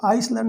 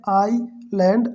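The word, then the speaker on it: island: इसको आइसलैंड नहीं पढ़ते, ठीक है, ध्यान दीजिएगा। यहाँ लिखा है IS, लेकिन पढ़ेंगे आई लैंड, एस साइलेंट है, इसका एस साइलेंट है, ठीक है।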